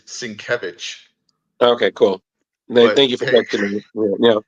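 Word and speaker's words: Sienkiewicz: Electra assassin um and I love that you said sieno Wix because that's what we all said when we didn't know how to say his name which is svich okay cool thank you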